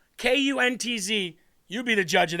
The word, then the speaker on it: Kuntz: Kuntz, because I don't want to say it like K-U-N-T-Z.